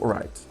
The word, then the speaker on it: write: і натискаємо оцю кнопку write дехто зараз скаже що ти неправильно говориш але перша w не читається в англійській мові тому в Райт можете